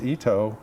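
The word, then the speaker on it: Itoh: that originally did this Ito is how he pronounce that name and there's several oh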